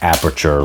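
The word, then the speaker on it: Aputure: Amaran is a subbrand of the company Aperture and it's spelled like a future like that even though it sounds at least the way they pronounce it is like aperture like the photo um element.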